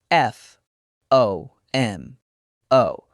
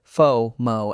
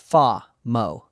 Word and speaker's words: FOMO: Always a long O. It rhymes with photo or mono. Fo-mo. Fo-mo, not fa-mo.